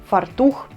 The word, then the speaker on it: фартух: друге треба - це римувати відоме і невідоме наприклад пастух фартух печія течія зуб тризуб поєднуємо те в чому